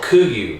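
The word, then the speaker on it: KUIU: wear yep what brand is it it's called qu you so it's K you I you pronounced to you it is the best stuff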